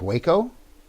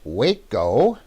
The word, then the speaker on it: Waco: It's Waco? Why is it spelled like that?